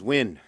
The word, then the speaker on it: Nguyen: N which is a very common name is pronounced win and thank you for listening ok thank you